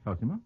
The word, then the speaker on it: Cosima: Is that how you pronounce it? Yes, Cosima.